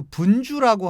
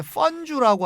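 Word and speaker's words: 汾酒: 그리고 다음에 소개해드릴 것은 마지막으로 소개해드릴 건데 그 분주라고 하고 중국 발음은 이제 펀주라고 합니다.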